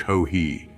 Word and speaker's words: hohi: The I is to be pronounced as E, and the whole word as if spelled in English ho-he.